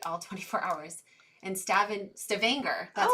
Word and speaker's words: Stavanger: the summer light all 24 hours and stabbing Stavanger that's how we say it right we had